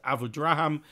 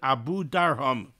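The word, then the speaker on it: Abudarham: comes from the Abu Darham, which most people pronounce Abu Draham, which I think is incorrect. I believe that the proper pronunciation is Abu Darham.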